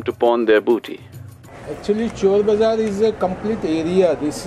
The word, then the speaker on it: Chor Bazaar: It was once called Shor Bazaar. But the English couldn't pronounce Shor, so it became Chor Bazaar.